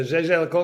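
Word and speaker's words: Jaeger-LeCoultre: I like the GG LeCoultre. I like the Breguet. I don't like the Zenith. Hey, But motherfucker, you don't know how to say it, man. Say it right, man. GG Le Coultre.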